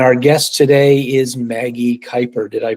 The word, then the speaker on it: Kuyper: And our guest today is Maggie Kuyper. Did I pronounce that correctly?